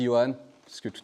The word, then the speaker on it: Johann: Je m'appelle Johan, ça s'écrit Johan, mais ça se dit Johan, parce que tout à l'heure il y a eu un petit micmac, mais ça arrive à tout le monde.